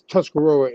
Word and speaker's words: Tuscarora: there's a seven but the sixth though is Tuscarora and out of the five that most people